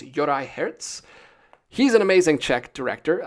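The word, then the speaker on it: Juraj Herz: finally learned how to say his name it's Yori Herz he's an amazing check director I mean I've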